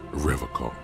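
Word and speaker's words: Revachol: to stay strong for revon he pronounces revon with a hard K unlike other people I like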